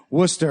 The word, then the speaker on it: Worcester: you got to love the Boston accent Worcester and it's spelled like Wester Wester it was kiss kiss